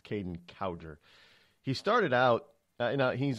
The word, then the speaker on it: Kaden Cowger: by the name of Kaden cower now i' had been mispronouncing his name for for years it's Kaden cowger he started out now